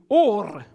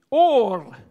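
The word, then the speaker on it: אור: this one here is pronounced in my best Hebrew or or okay bit like o r or okay is the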